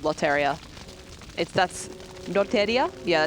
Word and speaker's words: Lotteria: That's Lotteria? Yeah, that's how it's pronounced in Japanese.